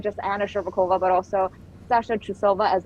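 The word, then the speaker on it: Shcherbakova: How do I pronounce her last name? Anna Sherbakova, right?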